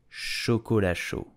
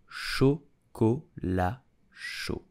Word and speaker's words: chocolat chaud: So how do you pronounce it correctly? You will say chocolat chaud. Chocolat chaud.